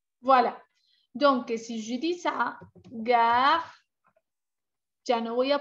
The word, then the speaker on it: ça: On place la cédille sous la lettre C. C. C'est cédille. Elle indique que le C se prononce S. C-A-K. C'est le son que. C'est cédille A, ça. C'est le son se.